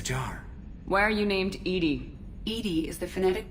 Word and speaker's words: EDI: airlock is a jar why are you named Edie Ed is the phonetic pronunciation of Ed that is an acronym for